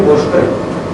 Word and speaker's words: Bhaskar: Bengal, they don't pronounce Bhaskar, they say Bhoshkar. They don't pronounce Sa, they pronounce Bhaskar is not Bhoshkar.